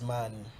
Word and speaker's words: Maani: the name is actually pronounced as Maani, as in energy.